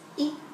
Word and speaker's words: i: i and in tereo it's always pronounced it's e without the macron and if there's a